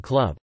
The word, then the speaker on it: klub: example, the B in club, club, is pronounced like a P, and the RZ in PRZE sounds like SZ.